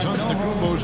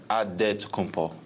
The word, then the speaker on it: Antetokounmpo: In a good way, we gotta say with a D. So it's Antetokounmpo. but in the Greek way, you say with the NT, like Antetokounmpo.